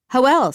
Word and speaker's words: Joel: "Hoel, Stan, come meet Amelia," Tommy bellows. He pronounces what seems like the name Joel with an H, so it sounds like Hoel.